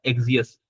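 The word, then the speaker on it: Axios: करेंगे वो होता है एक्सियस। कोई उसे एक्सियस बोल रहा होता है, कोई एक्सिस बोल रहा होता है, प्रोनाउंसिएशन जैसे भी कर लो, कोई मसला नहीं है उसका।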